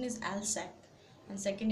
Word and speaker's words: Alsace: Then Alsace and Lorraine, the pronunciation is Alsace, and second it's Lorraine, the two French districts that had passed into Prussian hands.